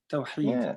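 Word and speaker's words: توحيد: But you described the meaning of a couple of Arabic words, and Khalif, and I'm not sure if I pronounced this right, Tawheed. It's a hard H. Tawheed.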